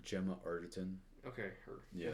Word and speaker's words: Gemma Arterton: Gemma Arterton.